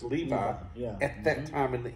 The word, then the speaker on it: Levi: Levi l e UI but that would be pronounced Levi at that time in the English language yep